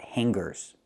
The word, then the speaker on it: hangers: These are called hangers, not hangers. Now we look at these two words. Hangers with no hard g sound, and stronger with the hard g sound.